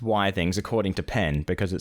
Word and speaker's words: Withings: Now, I believe it is pronounced Withings according to Penn because it stands for Wi-Fi things. I don't know how true that is. I believe it is for Wi-Fi things, but I think it's the same as biography.